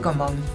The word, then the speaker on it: Caumón: Javier Comón. Señora. ¿Por qué Comón? Porque si vos sos hijo de María Rosa Fugazot y de César Bertrán, ¿qué es Comón? Que se escribe Caumón.